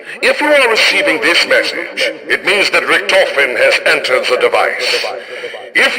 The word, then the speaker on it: Richtofen: Okay, it's pronounced Richtofen.